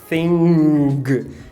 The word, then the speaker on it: thing: Porque geralmente, na ortografia, quando você tem o NG, a pronúncia é o agma, que é isso aqui, on. E a gente quer falar com NG, né? A gente quer falar thing. Então, muito cuidado, não tem esse g, não tem esse G.